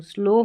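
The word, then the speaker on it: slow: और इस OW को ओ पढ़ते हैं तो स्लो हो गया।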